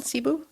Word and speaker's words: Cebu: Cebu.